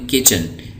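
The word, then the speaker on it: kitchen: chair chair dream door किचन यहां पे T silent है इसको बोड़ किचन किचन रसुई ब खाने को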